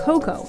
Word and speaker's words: cacao: Today, Ghana and Ivory Coast grow over 60% of the world's cacao, pronounced as cocoa in West Africa.